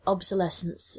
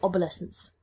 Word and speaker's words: Obselescence: stories as well so it should be it should have been obsolescence but at the beginning I pronounced it aescent probably I thought it